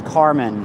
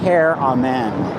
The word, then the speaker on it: Caramon: I always thought it was Carmen. His name Carmen. That's funny cuz he's a Republican. And now I wake up to it's pronounced care. Amen.